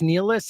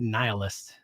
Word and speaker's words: nihilist: So, I would go nilist. It's nilist. Is that how it's pronounced? I always said nihilist. I think maybe it's both.